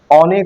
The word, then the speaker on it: অনু: আরো রয়েছে কথা অনাদ আর অ এর ও উচ্চারণ রয়েছে যেমন অতি অনু অতি অনু এটা